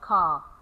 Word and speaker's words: car: Okay, so we omit it and we don't say car, we say ka. Similarly, the word teacher.